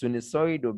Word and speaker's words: sinusoid: All right, it is Sunisoido because it is in the form of a sine curve.